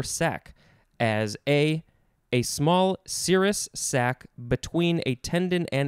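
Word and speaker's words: serous: normal i don't know cirrus is s-e-r-o-u-s it's like sirius without the eye and then we have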